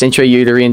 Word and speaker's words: intrauterine: entry i don't know how to say this intrauterine devices actually that's exactly how you say it